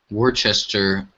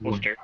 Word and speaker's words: Worcester: because I know um Worchester oh has what Worcester it's pronounced Worster wer really huh um